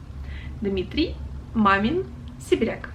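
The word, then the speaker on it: Дмитрий Мамин-Сибиряк: kind of region so dmitry mamin dimitri mayment dmitry mamin sibirek so he is from my region uh next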